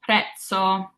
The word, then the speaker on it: prezzo: For example, prezzo. So I've broken up our Z's into this T and S, and prezzo means price. So it's that pizza sound, prezzo.